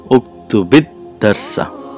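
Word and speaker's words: اكتب الدرس: on the ba or the sukoon on the lam kalima of the fa'al is turned into a kasra. So how do you say uktubid darsa?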